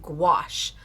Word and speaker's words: gouache: So, this month we have been using gouache. Squash. Squash. I always I I rhyme it. That's how I remember how to pronounce it because some of